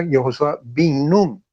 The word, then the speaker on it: Yehoshua bin Nun: particular, Yehoshua se pronuncia Yehoshua bin Nun. Y esto tiene una condición bien particular que destaca. ¿Por qué bin y no ben?